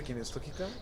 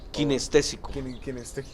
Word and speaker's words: kinestésico: ¿Kinestógica? Kinestésico. ¿Cómo es? Kinestésico. Kinestésico.